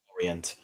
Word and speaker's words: Lorient: Um, Lorient. The T is silent. Uh Régis Le Bris. I think I think that's where he came from. FC Lorient.